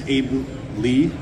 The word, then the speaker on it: Aebli: talk to you um daily group pronounced Abu Lee uh we are a